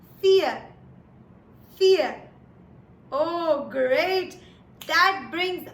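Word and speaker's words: vier: V huh very good V in German is pronounced as F which is why for is pronounced as fear fear oh great that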